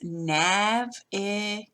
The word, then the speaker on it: navigate: It's navigate. But you see that accent mark tells us that the first syllable is the loudest.